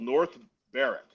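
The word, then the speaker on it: North Berwick: There's a there's a place in uh uh Scotland called North Bareric. It's like Burwick, like Burwick, PA, but it's pronounced Bareric over there.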